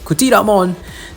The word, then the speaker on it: Cthyllamon: doesn't make sense so only when you know its Greek Origins will you be able to pronounce c c t h y l l a as CA right so caon that's how to pronounce